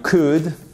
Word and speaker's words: could: Si c'est le cas, si vous avez apprécié, vous pourriez, you could, on ne prononce pas le L bien évidemment, laisser un pouce bleu juste en bas à droite, ça fait toujours plaisir.